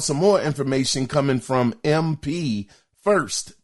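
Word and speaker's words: MP1st: So the other thing is now we found out some more information coming from MP First. Their name is spelled M as in Michael, P as in Paul, the number 1, ST.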